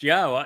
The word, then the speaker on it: Yahowah: And here is the evidence that Yahweh's name is pronounced Yahowah. You can get through all of that.